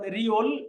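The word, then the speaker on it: 리을: যেমন রিউল, এটার উচ্চারণ দুইটা, রা, র এবং ল।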